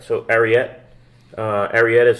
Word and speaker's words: Ariete: So Ariete. Ariete is spelled A-R-I-E-T-E.